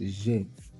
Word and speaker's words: j'ai: The first one, I have, j'ai, it's pronounced j'ai, j'ai, which means I have, j'ai.